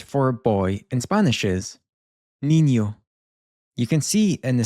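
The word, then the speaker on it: niño: This makes a sort of joined up N and Y sound. So you can imagine there being a Y right after the N. And that's what you're including in your pronunciation.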